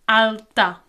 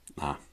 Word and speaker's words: alta: in a consonant, but because it's spelled this a l t, we actually have to pronounce this t now. So, alta. alta So, that actually shouldn't be too difficult.